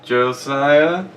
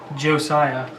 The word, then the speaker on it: Josiah: is the other host josia that's good it's almost right how do you how do you say it Josiah Josiah you're getting better every time you see you got